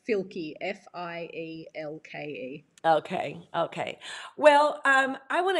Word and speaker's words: Fielke: No one can spell it or say it. Say it again. So it's Fielke, F-I-E-L-K-E.